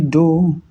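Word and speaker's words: doh: We have already seen that we have the major scale, which is do, re, mi, fa, sol, la, ti, do. So the first note is called do, as in D-O-H, do.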